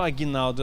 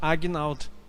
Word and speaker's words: Agnaldo: Eu não sou Aguinaldo, eu sou Agnaldo. Muita diferença nisso. Talvez você não consiga percepção. O meu G é mudo. É Agnaldo, não Aguinaldo.